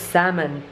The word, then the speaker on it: salmon: la palabra es igual se escribe salmón pero no se pronuncia la l la l es muda entonces es salmon Salon salmon Entonces él